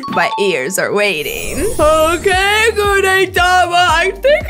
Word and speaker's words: Gudetama: His name rhymes with Ooh-Hey-Yama. Because, family, his name is Gudetama.